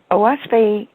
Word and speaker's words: Oahspe: Oahspe is 3 syllables. The O stands for the canopy of heaven. The Ah is the Algonquin word for earth. And Spe is the universal word for the spirit world, the emancipated heavens, nirvana.